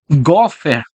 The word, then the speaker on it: gofer: Palavra em hebraico, nós pronunciaríamos gofer.